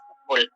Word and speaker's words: Foucault: Pucaul tulisannya bacanya pukul.